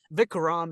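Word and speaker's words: Vikram: but like people um I've heard people pronounce this vicam vicam is actually correct pronunciation um yeah I was gonna say isn't it vicam it is vicam but like in New Zealand you know accent so it's like vickram yeah you know but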